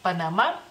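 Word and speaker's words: Panama: lituano, así que pues se escribe de la misma manera, solamente sin acento y se pronuncia, digamos que de la misma manera, o sea, ustedes la última A la pronuncian como un poquito más larga, nosotros como un poquito más corta, pero creo que la diferencia es muy mínima en este caso, así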